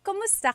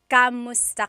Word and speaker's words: kumusta: If you hear my pronunciation and then other people, when they say it, usually they say kamusta ka? Kamusta ka. So it sounds like it's spelled with a letter A, K-A-M, but technically it's spelled with a K-U-M. That's like the correct spelling of it. But the pronunciation usually is kumusta ka, kumusta ka.